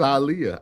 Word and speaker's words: Aaliyah: Time said they choose to say this woman's name wrong every time. Aliyah. They say it's Aliyah.